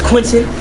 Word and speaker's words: Quentin: Hey, my name is Quentin. This rhymes with Benson.